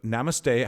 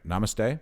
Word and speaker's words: namaste: can people find out more about the about namaste how do i say it properly i don't think i ever say it right namaste namaste namaste say it roger namaste you say it